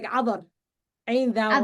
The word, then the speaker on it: Cadar: It's pronounced like Adar.